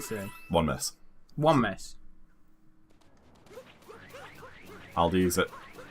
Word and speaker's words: Aldi: wait until you learn how it's actually meant to be pronounced which isn't Aldi is it oldi it's like all I can't do it but